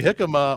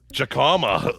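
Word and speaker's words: jícama: You can either say jicama or jacama if you're from Pittsburgh. Okay.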